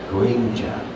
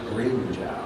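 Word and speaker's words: Grimmjow: And so I had always called him Grimjow, or Grimjoe. And when Wendy was directing me in the anime, she's like, no, you need to pronounce it Grimjow, okay? And so I pronounced it Grimjow.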